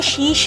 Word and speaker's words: शिश: ये भी टर्की, हाँ टर्की का, टर्किश लैंग्वेज से ही है शिश। आप देखें मैं कैसे प्रोनाउंस करूँ, शिश। और वो हम जैसे शीश महल कहते हैं, वो शीश नाग। तो वो जो है डिफरेंट लैंग्वेज से बिलोंग करती है वो चीज़।